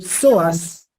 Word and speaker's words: psoas: van a ser el soas miren Cómo se escribe como si fuera psicólogo pic PS soas mayor y el músculo ilíaco